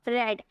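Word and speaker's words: read: Spelling same रहता है लेकिन प्रोनाउंसिएशन अलग की जाती है। इसे अगर फर्स्ट फॉर्म के रूप में आप पढ़ोगे तो रीड बोला जाता है, सेकेंड फॉर्म में रेड हो जाता है और थर्ड फॉर्म में रेड हो जाता है, बट स्पेलिंग यही रहेगा। ठीक है, रीड ही स्पेलिंग रहेगा लेकिन इसे प्रोनाउंसिएशन रेड हम बोलते हैं।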